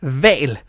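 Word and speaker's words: hval: If an H is followed by another consonant, it's silent. Otherwise, it will be pretty much impossible to pronounce. Think about it. Example, vale, which means whale.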